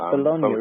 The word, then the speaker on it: Bologna: Yeah, that's Bologna, isn't it? The one in Italy. That's right. Yes. I'm glad you pronounced it properly because I would have said it wrong.